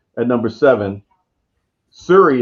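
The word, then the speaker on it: Syuri: pronunciation at number seven siri is how i would pronounce it s-y-u-r-i did i say that right yeah oh yeah that's it right oh you've been rubbing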